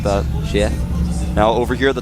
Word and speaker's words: Sheth: Very difficult for Koreans to say his name. Yeah. They don't have the TH sounds. Yeah. Or the SH sounds. Exactly. They do have to say like she et, kind of like that.